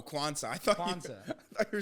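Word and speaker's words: Quansah: Or how do you say his name? Oh, Kwanzaa.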